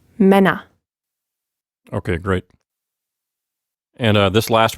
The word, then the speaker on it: Männer: It's Mann and Männer. So you hear that open R sound at the end, and the umlaut, a short sound, Männer.